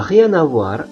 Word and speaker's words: rien à voir: N dari kata rien itu tidak jelas, dibuat sengau. N'a rien à voir. Tetapi ketika kita menggabungkan kata-kata ini dalam pengucapan, maka rien-nya itu N-nya jelas karena dia bertemu dengan A.